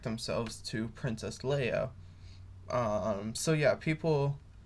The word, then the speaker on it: Leia: john deudana they both call princess leia princess leah and they do this multiple times and i don't believe they ever correct themselves to princess leia um so yeah people pronounce the names differently